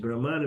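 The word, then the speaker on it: Brahmā: Which Brahman which is Brahma which is beyond time and space. And there is another word called Brahma the creator with a long a that Brahma is a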